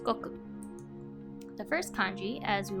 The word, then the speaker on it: 国: The second kanji is pronounced goku.